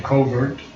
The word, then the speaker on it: covert: tract of Slumber self this is the British pronunciation in America we say covert but I believe out